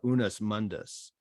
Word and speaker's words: unus mundus: But he also argued for, and I'll probably slaughter the pronunciation of this, I think it was the unus mundus.